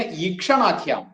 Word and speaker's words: ഈക്ഷണാഖ്യാം: പിന്നെ ഈക്ഷണാഖ്യാം, ഈക്ഷ, കിഷ് ആ, അതാണ് ക്ഷ. ഈക്ഷണാഖ്യാം, ഖ് യ് ആ അനുസ്വാരം. ഖ എന്നുള്ളത് അധികരമായിട്ടുള്ള അക്ഷരമാണ്, ശ്രദ്ധിക്കണം, നല്ല ശക്തിയിൽ വേണം.